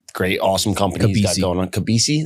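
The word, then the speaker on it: Kobeissi: Kabisi, that's how you say it.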